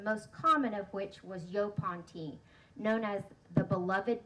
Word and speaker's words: yaupon: So I looked up the pronunciation, that's why I put it on there, but it's Yopon tea.